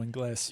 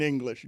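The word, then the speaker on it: Ingles: Your dad calls him Joe Engles. Yeah. Yeah. That's the way it should be pronounced in Spanish or in English. Joe English is exactly what it should be.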